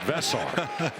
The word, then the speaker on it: Veesaar: Lot of conversation about Henry Vesar and how you pronounce it. Not Henry, but Vessar. Who? Vesar.